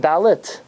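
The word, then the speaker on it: דלת: Dalid, lamed, taf. Pronounced dalit. The dalit, the reason the dalit should have a dot in it, it's pronounced like a tuf.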